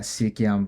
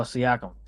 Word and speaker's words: Siakam: Is that how you say it? Who? Pascal Oh, Siakam. Yeah, Mr. Siakam. Siakam. Siakam. Okay, got to make sure to Yeah. get that right.